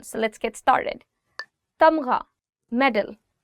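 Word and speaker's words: تمغہ: Tamgha, medal. Tamgha, gha. The sound of gha or the alphabet ghain is always coming from here. So try it from here.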